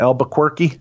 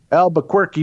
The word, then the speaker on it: Albuquerque: Is that how you say that? Albuquerque? I think it is, yeah, the official pronunciation. Yeah. Albuquerque, New Mexico, Tim.